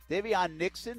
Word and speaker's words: Davion Nixon: Davion Nixon, a defensive tackle, Iowa to Jacksonville at number 22.